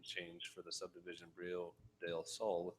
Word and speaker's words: Brio: They did a kind of a Latin pronunciation. The L's were silent. So now all they've done is just, they pronounce it the same and they remove the L's.